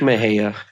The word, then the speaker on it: Mexia: It's like Mejia. Yeah, you mean Mexia? That one just throws everybody off. You mean Mexia? Mexia? Mexia? Yeah, yeah, that's right. Yeah. But it's Mejia.